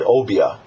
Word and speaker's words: Obeah: The first one, just want to touch on, is called the Obi. Now, some pronounce it Obia.